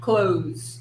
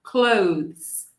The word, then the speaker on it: clothes: Em inglês americano, eles não vão incluir o som de TH. Eles vão usar como se fosse a palavra fechar. Close, close, close, ok? Mas no britânico, nós vamos pronunciar com o TH. É sutil, mas precisamos lembrar de colocar nossa língua rapidamente entre nossos dentes.